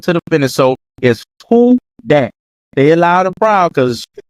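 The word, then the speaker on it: Who Dat: to repeat after me it is pronounced who that that's how you say not no no we don't change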